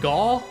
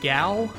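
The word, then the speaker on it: Gau: Do you guys say Gaw or Gao? Heard it both ways.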